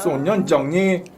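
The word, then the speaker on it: 少年的你: 소년정리. 좋습니다. 정확하게 성조 맞춘 네. 정확한 발음이었고요.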